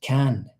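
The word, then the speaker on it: Caen: So, it's pronounced can.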